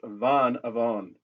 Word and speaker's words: vanavond: But how come it has vanavond? Vanavond. And it's pronounced, with the D, it's a heavier D, almost a T ending to it.